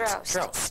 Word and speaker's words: Drost: It was long hair, no makeup, and it was called Positively the Most, which was supposed to rhyme with Drost, which is my real name.